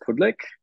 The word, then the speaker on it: Pudlyk: in in English well Australians pronounce it pudlick so I just roll with that but it's it's actually Ukrainian my grandparents were all Ukrainian uh migrated to Australia in the 40s um and so in Ukrainian it's pronounced Plick um and that's it